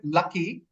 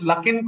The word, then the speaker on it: Luckin: I'm using my discretion you said lucky but it's luckin coffee we're almost there perhaps